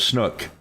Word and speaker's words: Snook: spoke to this individual last name of snook okay rhymes with crook I mean um that